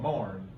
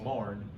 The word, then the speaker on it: Myron: there's a little community we call it Marn. It's spelled M-Y-R-O-N, Myron, but to the locals it's all Marn. And at Marn, between Franklin and Marn on the Strawberry River, there's a little farm there.